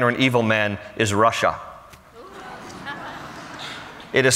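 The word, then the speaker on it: רשע: The word in Hebrew for a wicked man or an evil man is Russia. It is spelled differently. In English, it is spelled R-A-S-H-A, but phonetically, it sounds the same, Russia.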